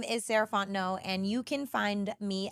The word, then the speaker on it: Sarah Fontenot: again my name is saranto and you can find me at M saraon no so Ms s a r a h fo o n t n o t the t is silent um that's me on